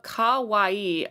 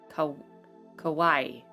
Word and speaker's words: kawaii: Kawaii, all three syllables spoken fluidly with equal emphasis. Kawaii, like Hawaii.